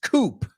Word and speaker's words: coop: So cope, C-O-P-E is the word. The second word is coop. No, they don't sound the same.